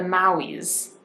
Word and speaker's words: Maui: And then the Maui's sweet onion. I think I'm saying that right. It's spelled Mauis, and it's from Hawaii.